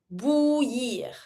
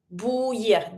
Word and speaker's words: bouillir: And to boil, bouillir. Bouillir. This one kind of tricky. You see a lot of vowels. You can just avoid the first I. So we say bouillir. Double L, Y sound.